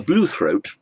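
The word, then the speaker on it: bluethroat: blue throat so a blue throat the stress on the first syllable so it's not a blue throat a throat that is blue but a blue throat is a bird whose throat is blue so blue throat adjective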